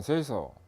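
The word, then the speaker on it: 清掃: 일본에서 OS가 생겼는데 일본어로 발음을 하면 정리는 세이리, 정돈은 세이돈, 청소는 세이소, 청결은 세이게츠, 생활화 또는 습관화는 시츠게 이렇게 발음합니다.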